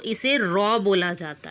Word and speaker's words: rho: बात करें तो इसे रॉ बोला जाता है, RHO। जहाँ पे रहो नहीं बोलेंगे, इसे रॉ बोला जाएगा, H साइलेंट हो जाएगा, रॉ बोला जाएगा सिंपली।